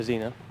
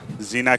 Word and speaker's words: Xena: that's a great shot the Xena yeah that's how you pronounce it Xena could be able to